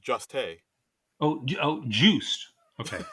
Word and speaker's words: Jost: Colin Jost. I believe Hmm. it's pronounced Juste.